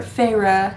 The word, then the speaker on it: Feyre: This series follows our main character, Feyre. That's how you say it in the book, but I like saying it Fair because I feel like that makes more sense.